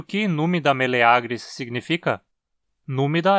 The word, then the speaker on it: meleagris: no mira e milagres por outro lado o aqui forma a penúltima sílaba e longo então dizemos meleagris e não milagres Oi e o quê numida meleagris significa numeral é a